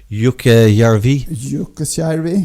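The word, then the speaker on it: Jukkasjärvi: But yeah, the Kirin sculption and stuff that links up to the ice hotel in uh Yuka Yarvi. Yuka. That's right. Very nice pronunciation.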